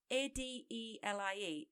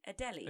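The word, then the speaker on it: Adélie: colony of 60,000 I don't know how to pronounce this. Maybe you do. It's Adelie. Adelie.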